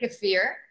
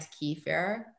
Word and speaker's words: kefir: Okay, so the first question is kefir or kefir? Raquel, you first. Me, we say kefir. Okay. Kefir in Spanish. Okay. But that's my language. Yes, it's beautiful. You roll your R's so lovely. In Russian, also, we say kefir. And in English at Lifeway and over the years, we've said both kefir and Kiefer.